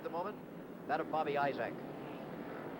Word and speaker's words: Isaac: moment, that of Bobby Isaac. I-S-A-A-C, and down here, they pronounce it Isaac most of the time.